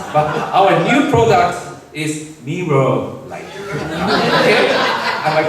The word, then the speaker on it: Mirror Light: our next new product, which is Mirror Light, not Miller Light. People from Japan have difficulty pronouncing R and L sounds, but our new product is Mirror Light.